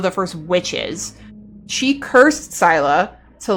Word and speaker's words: Scylla: So did I think it was said Scylla. Okay. Or Scylla. Is it pronounced Scylla? Oh, Scylla. I can't read. Holy. I can't read. Like syllabic.